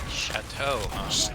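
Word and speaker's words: Shatto: it at least once chatau s h a t t o extremely good like thick creamy delicious milk it's like what milk is supposed to be and pronounced like the French word for house I mean that's how I pronounce it but I'm from the Midwest so I might be stupid I mean I'm out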